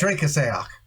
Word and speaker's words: Drecksack: Drecksack. Drecksack. That's to the best of my knowledge of Germanic pronunciation.